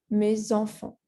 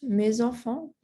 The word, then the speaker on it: mes enfants: Not mes amis, but mes amis. Same thing, mes enfants, not mes enfants, but mes enfants.